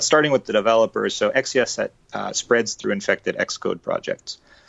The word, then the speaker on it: XCSSET: I've heard people pronounce it XCSSET, so I'm going to go with that.